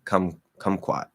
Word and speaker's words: kumquat: It's that middle letter Q. So, okay, kumquat. Now, that second syllable is not stressed.